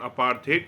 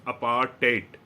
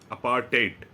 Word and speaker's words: apartheid: So this word, the first word you see here, apartheid, it is not apartheid, it is pronounced as apartheid. So in the end, it is like TAYT, apartheid.